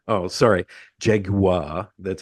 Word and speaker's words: Jaguar: recording this we have to T talk about Jaguar oh sorry Jaguar that's how you're supposed to say yeah Jaguar